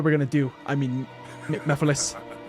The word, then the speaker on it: Mephiles: I mean, Mephiles. Even though his name looks like it's pronounced Me-Files.